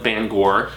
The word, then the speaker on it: Bangor: in Maine where he lives, just outside of Bangor, as I have finally learned how to properly pronounce it, you manians, you maniacs, haha.